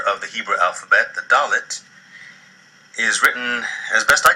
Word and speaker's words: Dalet: Like Beit and Gimel, Dalet has two pronunciations. With the Dagesh, it sounds like D in dog. Without the Dagesh, it sounds more like a soft D, the.